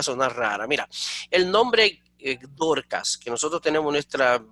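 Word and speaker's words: Δορκάς: un problema porque cuando tú lo ves en griego es aguda, entonces Dorcas. Entonces dice, oye, pero ¿qué pasó aquí? Pero imagínate, debe ser un problema para los oídos de uno y la fonética de uno, que tiene la vida entera escuchando, hablando de Dorcas, y de momento tú tienes que en griego es Dorcas.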